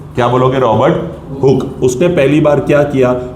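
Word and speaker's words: Robert Hooke: लिखने के लिए स्पेलिंग में आप लिखोगे हुकी ताकि आप गलत ना करो और प्रोनाउंस करने के लिए आप बोलोगे रॉबर्ट हुक। क्या बोलोगे? रॉबर्ट हुक।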